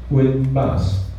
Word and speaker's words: WinBus: 的意思，发音以中文的稳中文的那个稳当的稳的音呢相近，而稳定